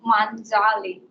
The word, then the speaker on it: Manjali: It's pronounced as Manjali.